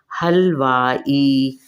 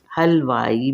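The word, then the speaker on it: حلوائی: बना दी गई है यह ई की आवाज इससे निकलती है हलवाई हलवाई मिठाई यानी स्वीट्स स्वीट्स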